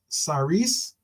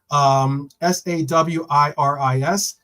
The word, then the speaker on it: Sawiris: It is understood that Villa co-owner, the Egyptian billionaire Nassib Saris, my apologies on mispronouncing your last name, Sawiris, is close to City chairman, Mubarak, and that he shares his frustrations over imposed limits on spending.